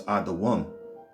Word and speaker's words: Edom: Edom, all right, which is how you pronounce this, Adawam.